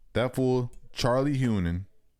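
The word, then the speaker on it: Hunnam: That fool, Charlie, how do you pronounce his last name? Han. Hunan. Hunan.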